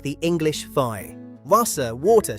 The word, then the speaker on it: Wasser: Wasser, water, say it Wasser.